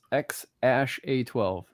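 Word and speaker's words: X Æ A-12: on here uh the the name is pronounced x ash a12 yeah yeah what what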